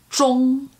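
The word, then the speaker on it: 钟: to ch, ch, ch, the second part is O-N-G, ong, ong. Worthy of note here is it's not a short O sound like a lot of people default to as English speakers. It's really a long O sound. So ong, okay. Ong instead of ong. Zhi ong, zhong is how that strings together. Zhong, and then the second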